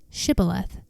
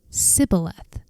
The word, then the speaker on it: Shibboleth: If the man said, "No, I'm not," they would tell him to say Shibboleth. If he was from Ephraim, he would say Sibboleth, because people from Ephraim cannot pronounce the word correctly.